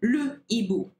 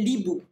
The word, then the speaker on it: hibou: Now, we say le hibou, and we do not say l'hibou, okay? We say le hibou because it has an H aspiré. So you must pronounce the E, okay, or the H more like, and the letter that comes after that.